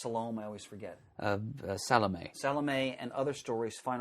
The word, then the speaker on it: Salome: Page 390, Peacock Russell's, is that pronounced Salome? I always forget. Salome.